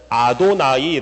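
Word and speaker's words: יהוה: 성경을 읽을 때도 마찬가지야 여호와 라는 단어가 나오면 여호와 야훼 라고 일지 않고 뭐라고 왜냐면은 아도나이 라고 읽었어요 물론 성경에는 아도나이 라는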